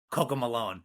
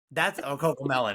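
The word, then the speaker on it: CoComelon: We listen to kind of, Coco Malone. So That's Coco Melon, if that's how you pronounce it.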